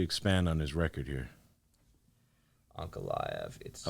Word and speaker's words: Ankalaev: Ankalaev.